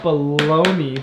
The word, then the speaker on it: bologna: I got a question why is it called baloney but it says bologna it's because it comes from the ancient lands which is spelled with a G because the G is sometimes silent look at the word